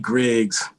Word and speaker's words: Griggs: And we have Zolee Griggs, which rhymes with Diggs, which is, if you know Wu-Tang, you know what that means.